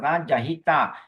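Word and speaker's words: jahitā: Second line the last word jahita short a short i long a jahita bawanti jahita bawanti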